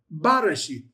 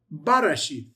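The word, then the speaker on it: בראשית: So it's not resheth, it's Barashith. Barashith.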